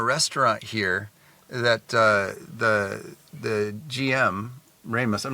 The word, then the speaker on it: Rejmes: you pronounce Yes. it? Remus.